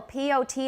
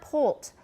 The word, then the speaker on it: pot: that soon for example p.o.t in british english is pot it's it's not poult poult cinega caico o